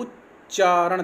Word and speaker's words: उच्चारण: आच्छादन आच्छादन, सज्जन सज्जन, उच्चारण, देखो उच्चारण, देखो उच्च, डबल चा बोल रहा हूँ ना, उच्चारण उच्चारण।